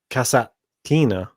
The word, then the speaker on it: Kasatkina: I've got Hercog here going through against Gasparian, and I've got Kasatkina. Well, I'll say this right. Kasatkina. There's no extra S in there that I'm adding in.